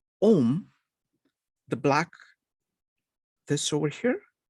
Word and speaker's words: Om: Now, how do you say Om? There is one big thing that is crucial. When you say Om, you breathe out. Om.